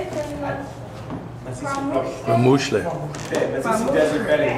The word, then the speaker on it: KwaMuhle: I say it KwaMuhle, but how do you say it? I KwaMuhle.